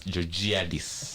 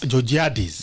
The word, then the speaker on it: Georgiadis: be here uh-huh yeah so that name is pronounced as giorgiadis jojadis so i'm an advocate of the high court